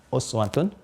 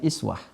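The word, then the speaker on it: أسوة: alaykum Viola sudilah I Uswatun Hasanah Ini bisa juga dibaca dengan iswah ada dua cara membacanya i the Rich Hai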